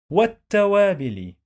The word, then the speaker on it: والتوابل: والعطور وال والعطور والعطور والتوابل والتوابل و والت والت حرف التاء بيتنطق مرتين. We pronounce that two times. وتا. وناخد بالنا حرف اللام هنا لا ينطق. We don't pronounce this lam.